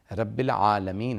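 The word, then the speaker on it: رب العالمين: کو صحیح ادا کرنا، کہ الحمدو نہیں ہے، الحمدللہ ہے، رب العالمین ہے، عالمین نہیں ہے.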